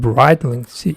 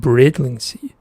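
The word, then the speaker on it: Brightlingsea: If I remember correctly, it pronounced Bringing Bridling Sea. Not Brightling Sea, but Bridling Sea.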